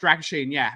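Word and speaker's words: Drăgușin: When people say it's pronounced Dragoshin, because of it's got the accent on top of the S.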